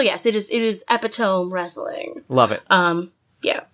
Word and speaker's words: Epitome: you're okay with that it's spelled epitome but like Apatow it's good if you can't chant it it's not a good wrestling name wrestling name so yes it is it is epitome wrestling love it um